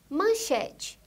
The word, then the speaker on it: manchete: Médico, a sílaba tônica é a primeira sílaba, o mé, médico. Manchete.